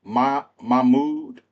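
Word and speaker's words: Mahmood: Um, my I don't want to mispronounce his first name. It's Mahmoud Mbade.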